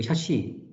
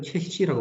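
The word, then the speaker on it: chassis: 자, 참고로 이제 그 샤시 우리는 샤시라고 부르는데 미국 애들은 최시라고 발음해요. 샤시도 그러니까 어떻게 보면 이제 콩글리시 발음인죠.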